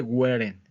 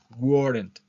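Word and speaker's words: weren't: wasn't y wen War no se dice wen ojo con eso no es wen yo he escuchado mucho Esa pronunciación de wen pero no no es wen es War War War el primero es wasn't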